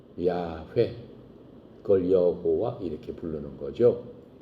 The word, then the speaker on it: YHWH: 모음이 없기 때문에 yhwh에요 yhwh를 히브리말 발음으로 하면은 야훼 그걸 여호와 이렇게 부르는